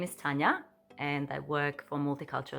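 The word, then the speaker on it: Tanja: And that is because I'm from Croatia, so my name is pronounced Tanya, and it's spelled with a J, T-A-N-J-A.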